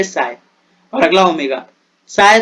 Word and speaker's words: psi: CHI में H silent है, उसे काय बोलोगे और PSI में P साइलेंट है, साय.